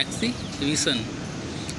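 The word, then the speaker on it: exhibition: पढ़ते हैं, एक्सीबिशन, एक्सीबिशन जिसका अर्थ होता है प्रदर्शनी। अगला है फेमिनिन, स्पेलिंग फेमी, FEMI, फेमी, और फिर उसके बाद 9, फेमिनाइन लिखें, लेकिन पढ़ें क्या?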